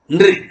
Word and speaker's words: नृ: नृ उसको हमारे उड़ीसा में, बंगाल में, गुजरात में और मराठी में नृ बोलते हैं। जैसे कृषक, रियली कृषक उच्चारण के क्रू बोलते हैं ना, नृ नृ बोलते हैं, वो नहीं है नृ।